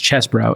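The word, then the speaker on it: Chesebro: Jenna Ellis, uh, Kenneth Chzbro, it's spelled Cheese Bro, but it's Chesbro, and Sydney Pal have all now pleaded guilty.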